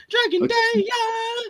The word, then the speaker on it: Dragon Dia: I know how to pronounce it from his theme song. Dragon Dia.